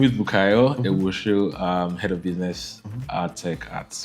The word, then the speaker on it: Ewuoso: So it's Bukayo Ewuoso. Ewuoso. Ewuoso, yes. I've always said Ewuoso. No, it's Ewuoso.